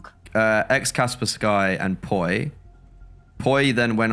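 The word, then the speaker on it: Kaspersky: X was it donk uh ex Casper Sky and Pi Pi then went on to break the kill record and ex Kasperski. That's how you pronounce it properly.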